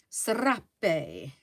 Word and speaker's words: serape: You have to roll your R's. Ooh, that sounds a bit rude. Rrr, serape.